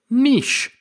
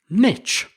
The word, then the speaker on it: niche: The word niche is taken from French, and that's the original French pronunciation of the word, niche.